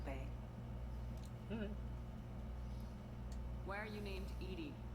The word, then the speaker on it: EDI: where are you named Edie Edie is the phonetic pronunciation of EDI intelligence it's a very